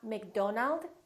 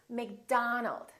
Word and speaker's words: McDonald: not Robert it's Robert it's not McDonald its McDonald alright let's practice repeat after